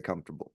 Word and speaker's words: comfortable: Comfortable, Come for a table. Come comfortable. for the table.